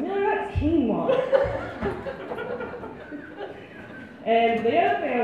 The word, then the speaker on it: quinoa: he also pronounces quinoa, you know, like the food, guano for some reason.